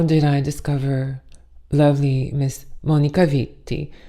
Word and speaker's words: Monica Vitti: So how did I discover lovely Miss Monica Vitti? And I really want to say it like that because it sounds better.